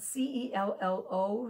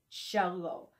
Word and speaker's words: cello: also plays cello and it's spelled c-e-l-l-o so you would think oh is it cello no it's got the ch sound shallow so this is the